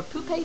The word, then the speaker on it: poupée: And now for Poupée Theater and all the poupées, puppets you could call them, but I like the French pronunciation better.